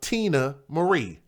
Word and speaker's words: Teena Marie: Are you guys familiar with the young lady, the Ivory Queen of Soul, by the name of Tina Marie? Her name is spelled Teena Marie.